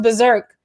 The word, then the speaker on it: BRZRKR: keanu reeve says like it's pronounced berserk but it's spelled b r z r k r just to not get